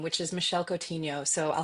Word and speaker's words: Coutinho: You can find me online everywhere at Michelle Infinity cuz my obviously because my last name is uh hard to pronounce. It's Cotinho.